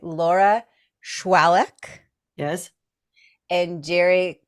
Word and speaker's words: Shwaluk: Laura Shwaluk.